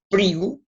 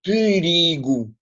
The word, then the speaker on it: perigo: E a palavra perigo, de facto, nós não pronunciamos perigo, como não pronunciamos Filomena, pronunciamos Filomena, Filomena. A primeira sílaba não se nota quase. Aqui perigo não se nota.